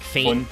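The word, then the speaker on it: Föhn: They did kind of fuck up his name because it should be Fun or Fun. Yeah. Like Fein. It is pronounced kind of Fein, but with a little bit of extra emphasis. It's German normally.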